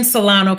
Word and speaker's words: Solano: the sko board um pronounce the e in Solano County got it okay so SC e in salano county and that is